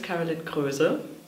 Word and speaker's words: Karolin Kroese: Okay, yeah, my name is Karolin Kroese, which is the German pronunciation.